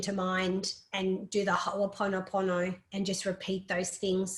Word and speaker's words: Ho'oponopono: So if you look it up and just Google, even if you can't spell it, Ho'oponopono is kind of how you say it in Australian, Opono.